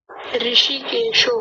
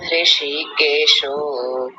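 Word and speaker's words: हृषीकेशो: इस शब्द को बोलिए ऋषिकेशो हां ठीक है ऋषि हां ह की आवाज भी आनी चाहिए हल्की सी ह आधा है इसमें ठीक है अगला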